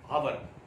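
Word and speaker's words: hour: After half an आवर, आवर is totally wrong, it's not called आवर, it's called आ, है ना, एच is silent here, H जो है यहाँ पे silent होता है.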